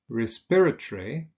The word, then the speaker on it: respiratory: Now, with those adjectives that have 4 syllables, that consist of 4 syllables, we usually stress the second syllable. So we say respiratory, conciliatory, defamatory, explanatory.